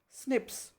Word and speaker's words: SNPs: snps single nucleotide polymorphism which are pronounced as snips this information promises to